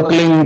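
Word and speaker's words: क्लीं: एक शब्द क्लिंग शब्द कह आधा लय में मिला हुआ बड़ी की मात्रा और बिंदी, उसका उच्चारण होगा क्लिंग गा, गा की ध्वनि निकलेगी पीछे।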